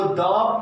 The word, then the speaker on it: the: THE लगा हो और उस वर्ड के प्रथम अक्षर का उच्चारण हिंदी व्यंजन वर्ण से हो तो THE को द पढ़ेंगे।